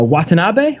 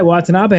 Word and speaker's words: Watanabe: and iwgp heavyweight champion as uh i'm gonna butcher the name what was it uh watanabe right that is correct yeah watanabe i think at a couple shows in the